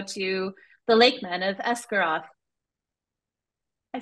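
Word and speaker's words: Esgaroth: 14 we go to the lakem men of escaro I said the title I said it right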